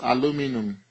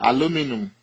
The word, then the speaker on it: aluminum: will pronounce it as aluminum but in Nigeria we say aluminium uh but here in the United States it is pronounced as aluminum uh Silas silicon SI